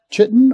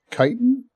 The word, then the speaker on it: chitin: They can also give you chitin or chitin, depending how you want to pronounce it.